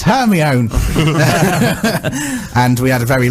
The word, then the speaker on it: Hermione: And she pronounced Hermione Hermione. and when we came to read the book, when me and my mum came to read the book together afterwards, and she said Hermione, I went, "Mum, what are you on about?